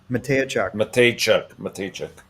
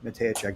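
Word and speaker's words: Mateychuk: c h u k m a t e-y like edward why like yo-yo c-h-u-k matteo check he's a left-shot defenseman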